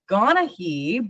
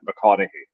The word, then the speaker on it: McConaughey: pronounce Charlotte's last name, I said McGonaghy, but I think, Graham, you had a different pronunciation for me. Yeah, with Scotland, it's more like the "ma" is in there. It's like McConaughey, like McConaughey, Charlotte McConaughey, like that. McConaughey? Yeah. McConaughey, kind of like Matthew McConaughey?